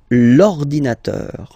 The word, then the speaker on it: l'ordinateur: you can see that it starts with the vowel O, okay? And as I said, you know, E and O, they don't get along that well, so you've got to take this E away, and then you get this l'ordinateur, l'ordinateur, all right?